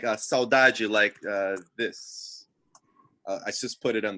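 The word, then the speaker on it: saudade: portugal but uh and so yeah and it's spelled like a saudaji i just put it on the chat s-a-u-d-a-d-e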